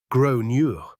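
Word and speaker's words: Gráinne: She asked what I meant, and I said, well, in Ireland, they typically pronounce it like Gronure.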